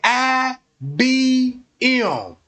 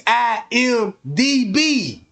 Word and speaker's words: IMDb: She didn't pronounce it right. You see what I'm saying? She said IBM. And she said it all wrong. It's IMDB.